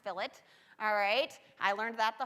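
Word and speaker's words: fillet: a Filat is I know it looks like filet I promise it's pronounced Filat alright I learned that the hard way so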